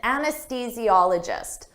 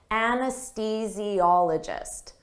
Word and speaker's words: anesthesiologist: An anesthesiologist. Don't let this spelling confuse you. Native speakers have difficult with the pronunciation of this anesthesiologist. Anesthesiologist.